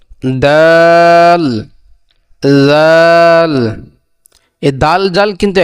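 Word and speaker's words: دال: তাহলে দালের উচ্চারণ হলো যে জিহ্বার আগাম সামনে উপরের দুই দাঁতের গোড়ার সঙ্গে লাগাইয়া। দালের উচ্চারণ কি? জিহ্বার আগাম সামনে উপরের দুই দাঁতের গোড়ার সঙ্গে লাগাইয়া দাল, দাল।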